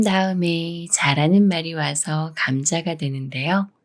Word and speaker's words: 감자: 다음에 자라는 말이 와서 감자가 되는데요 미음 받침이 지을 만나지만 쌍 지우이 아닌 지을 소리 그대로 즈로 읽어요 감자 감자 예문 읽어